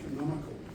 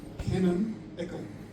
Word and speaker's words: Canonical: I'm the territory manager for Canonical. That's how you say it. So, Canon-ical.